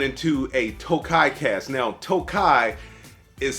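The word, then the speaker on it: Tokaji: before it went into a Tokai cast now Tokai is spelled kind of Takashi so I'm glad I did my research before I came on here and I mispronounced it but Tokai is a wine a very sweet wine that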